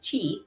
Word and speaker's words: Qi: Qi, Q-I. I know it's phonetically C-H-I, but it's Qi.